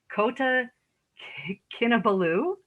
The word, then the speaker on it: Kota Kinabalu: After graduation, she moved to, okay, here we go, Kota Kinabalu.